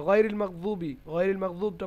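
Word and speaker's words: غَيْرِ الْمَغْضُوبِ: হ্যাঁ, সূরাতুল ফাতিহা গায়রিল মাগদুবটা পড়ুন। গায়রিল মাগদুবি আলাইহিম বে হবে না, ওয়ালাদ-দাল্লিন। ঠিক আছে, বে হবে না, ওখানে বি হবে।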